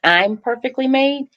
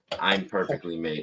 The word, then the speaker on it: ImperfeKtlymade: say this that the the pronunciation for the foundation it's I'm perfectly made I am uhuh so I am man I'm perfectly made okay okay thank you